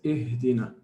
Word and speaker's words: اهدنا: Okay, so he says ihdina, ihdina. Okay, this is what we mean, sisters who have asked the question, by temporary kasra.